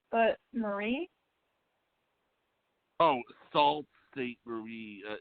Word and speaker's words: Sault Ste. Marie: There's a Sault Ste. Marie, but Marie? Oh, Sault Ste. Marie. It's spelled SAULTSTE MARIE, Michigan.